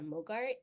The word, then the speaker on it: MOGRT: And you can also go on other websites and you can download something called a Mogart. It's spelled MOGRT.